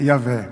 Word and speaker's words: Yahvé: é um nome artificial, porque o nome divino a pronúncia do nome divino é Yahvé.